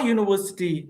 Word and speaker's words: university: I'm studying in a university. Even though letter U, see U, but we are pronouncing like yeah.